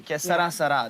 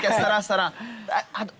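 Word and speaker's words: Que sera, sera: Que sarà, sarà. That's how we said, right? That's how you say it. Yeah, that's how you say it. Right. Que sarà, sarà.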